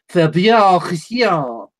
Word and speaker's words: Faber: It's pronounced Faber.